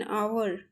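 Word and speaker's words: hour: एन आवर। ठीक है? एन पता ही है क्यों आया है? क्योंकि एच क्या है? यहां पे साइलेंट है।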